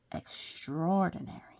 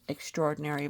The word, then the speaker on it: extraordinary: must have been something extraordinary now extraordinary is built of extra and ordinary which is to say it is beyond it is more than ordinary so most people pronounce it extraordinary versus extra ordinary cuz it's extraordinary all